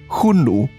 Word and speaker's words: Xiongnu: similarity of their names shonu pronounced in ancient chinese would probably sound something like hunu and there are various